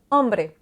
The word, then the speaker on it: hombre: Y es una letra muda. Donc, le H, c'est une lettre muette. Souvent, comme en français, c'est différent de l'anglais. La lettre va être là, on va tout simplement pas la prononcer, comme dans l'exemple hombre.